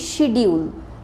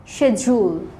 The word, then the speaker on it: schedule: পরেরটা দেখো SCHEDULE, এটা আমাদের অনেক বেশি ভুল হয়, আমরা বলে ফেলি শিডিউল, শিডিউল বলি কারণ ডিইউএলই আছে। অ্যাকচুয়ালি ওয়ার্ডটা হবে শেজুল, শেজুল।